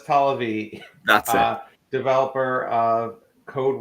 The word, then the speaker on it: Tollervey: special guest uh tolivery did i pronounce that right no but don't worry about it i'm used to it that's not okay how do you pronounce your last name oh talavee that's a developer of